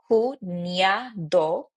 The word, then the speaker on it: cuñado: Maybe like brother-in-law or sister-in-law, cuñado, cuñada, because remember that this one, this letter, NE, it's basically replacing a ni. So that's why we say cuñado, cuñada.